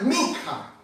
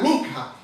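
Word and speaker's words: מנחה: hebreo, una palabra un poco bastante difícil de pronunciarla, pero es min con la K, minja. Min con la min, NK, minja.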